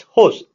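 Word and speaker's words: José: But before that, let me tell you, host Manuel Gilbert, it's not Jose, it's host. We call him, the pronunciation is H-O-S-E, host Manuel Gilbert.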